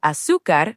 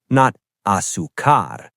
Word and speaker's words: azúcar: to it, leche means milk, y means and azúcar means sugar. Together, le pongo leche y azúcar. I add milk and sugar to it. Pronunciation heads up, azúcar. The stress is on the first syllable, azúcar, not azúcar, azúcar.